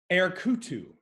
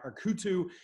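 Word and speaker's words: Erketu: This one's a toughie, and if you need me to spell it, let me know. Erkutu, or Erkutu.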